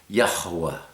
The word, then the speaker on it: Yahuwah: a little more emphasis yahuwah it's two syllables really yah and and you